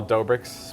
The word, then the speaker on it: Doughbrik's: Ma tra un paio di mesi, forse un mese, apriremo una pizzeria chiamata Doughbrik's, pronunciato come pizza dough - Sta per succedere finalmente.